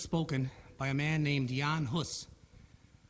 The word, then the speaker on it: Jan Hus: by a man named jan huss which in english is pronounced john huss this man was burned